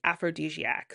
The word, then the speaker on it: Afrodiskayak: So Aphrodis kayak, and it's pronounced aphrodisiac. So the spelling is AFRODISKAYAK.